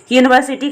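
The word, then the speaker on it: university: है वो वॉवेल है, लेकिन उसका प्रोनाउंसिएशन कॉन्सोनेंट की तरह किया जा रहा है। यूनिवर्सिटी यानी कि या, हिंदी का या जो है वो हिंदी का व्यंजन है यानी कि कॉन्सोनेंट है और इसीलिए यहाँ पे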